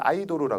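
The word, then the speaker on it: アイドル: 걔네는 아이도르라 그래요. 아이도르. 걔네 발음으로.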